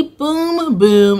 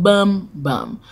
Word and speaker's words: Bum Bum: When I did the partnership with them, they were like, make sure you say Boom Boom instead of Bum Bum.